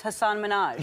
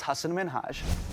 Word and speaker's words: Hasan Minhaj: Good, please, because everyone that says your name says Hasan Minhaj. Yeah, but the real way you pronounce it, and this is a big deal because my parents are here, it's Hasan Minhaj.